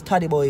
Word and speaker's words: Todibo: So it's Todibo, yes, Todibo is how his name is pronounced.